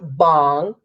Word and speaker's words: bhang: BC but it's um I actually found out it's pronounced bong but I'm southern and I live in the south and I like bang it but bong is